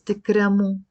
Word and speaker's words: تكرموا: If we want to say it to a group of people, it's تكرموا with the O in the end. And as I mentioned before, this alif here is silent. We don't pronounce it.